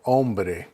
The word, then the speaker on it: hombre: Hombre with an O, hombre. But you'll notice you start with the pronunciation of the O. The H is silent.